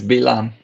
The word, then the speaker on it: Balaam: And Balaam, and I'm probably pronouncing everything wrong, but, it's like beating the donkey. In Hebrew, it's Bilam.